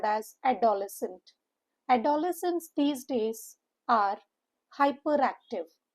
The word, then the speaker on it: adolescent: The stress is on the third syllable and the syllables here are four. Adolescent. at the lesson. The O sound makes U H sound and the C E N T is u H N T.